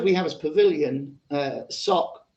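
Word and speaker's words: סֹךְ: see the word we have as pavilion uh sock it's just odd that god hides in his sock but language is funny like that isn't it uh the word that we have translated is pronounced sock but it's literally the lair of a wild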